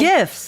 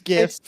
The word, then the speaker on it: GIF: So now replace the T with an S and tell me how you say that.